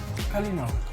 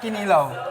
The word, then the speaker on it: kalinaw: How do you say peace in Visayan? Kalinaw. A kalinaw. Kalinaw. No, not kinilaw.